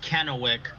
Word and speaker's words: Kennewick: is a long one 15 hours Ryan it's pronounced Kennewick so we're 16 out 15 hours away from